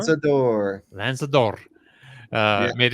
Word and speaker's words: Lanzador: But speaking of supercar, also the long-awaited Lamborghini, how do you pronounce that? Lanzador? Lanzador.